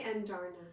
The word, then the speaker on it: Andarna: So, and then Andarn, how do you say... Andarn. I say Andarna.